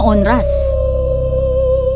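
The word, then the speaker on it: honras: Galing sa Spanish word na onras. dahil hindi binibigkas ang H sa Spanish at ang ibig sabihin niyan ay funeral honors o pagbibigay galang sa mga patay.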